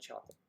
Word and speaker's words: chocolat: White chocolate bunnies because I like white chocolate. I like milk chocolate. I like dark chocolate. I like chocolate. Chocolat. Chocolat for Alex if she's listening. I want to make sure I say it right. It's chocolat.